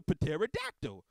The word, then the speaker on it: pterodactyl: favorite dinosaur it's a pterodactyl you don't say that the p is silent like you're hearing like